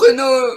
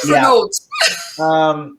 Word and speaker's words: Renault: There was a car that we had here in America called the American pronunciation Renault Alliance. Renault. Not Renault.